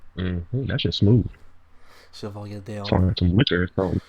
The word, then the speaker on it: Chevalier D'Eon: It's spelled like Chevalier. That's just smooth. Chevalier D'Eon. Sorry, some liquor. So. Chevalier D'Eon.